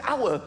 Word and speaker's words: hour: why is the word hour spelled with an H why is there an H the silent h nobody has ever said